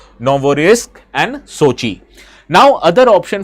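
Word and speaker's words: Novorossiysk: the Black Sea region known as Norvarisk Novorisk. Sorry I I actually pronounced the name of this particular port. It is Novorisk and Sochi.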